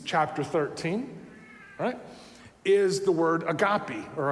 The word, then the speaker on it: agape: 13 is the word agape or agape however you want to pronounce it the old way is agape the way that our Greek friends over in Greece would say it would be a copy